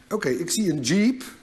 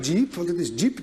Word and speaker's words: 집: They said: 집 'jib'. So I picture a jeep, but a short one; it is not 'jeeep', but 'jib'.